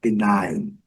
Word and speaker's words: benign: Aqui, a pronúncia é diferente do I, mas no final, o G, que interessa é que o G não é pronunciado.